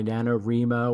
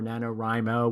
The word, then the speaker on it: NaNoWriMo: It also goes by NaNoWriMo or NaNoWriMo, whichever way you want to pronounce it.